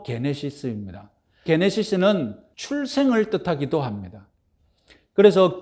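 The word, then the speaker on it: γένεσις: 자, 기원을 뜻하는 헬라어가게 제네시스인데 현대자동차 이름 제네시스가 아니라 그건 영어식 발음이고 헬라어로 게네시스입니다.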